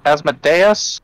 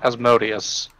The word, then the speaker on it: Asmodeus: Is it Asmodeus or Asmodeus?